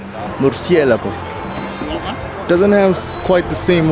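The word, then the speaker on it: Murciélago: Well, Kanye might have called this car a Lamborghini Mercy, but it's actually pronounced Murcielago. Murcielago.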